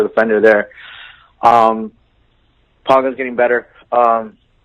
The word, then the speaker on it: Giroud: Giroud, is it Giroud? How you pronounce him? Like Giroud.